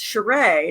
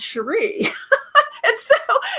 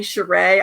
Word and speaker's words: Sherré: on my birth certificate my name should actually be pronounced sureiy not cherie and so when I have like international when I have international students and they call me sure a I'm like they're phonetically